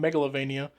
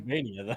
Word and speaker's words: Metroidvania: I said it right this time. You gave me shit for calling it Megalovania. It's Yeah, not but like, Metroidvania though.